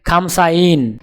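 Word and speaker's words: خمسون: উচ্চারণ হবে খামসাইন। তাহলে 50 ক্রমিক সংখ্যাটির আরবি উচ্চারণ হবে খামসাইন।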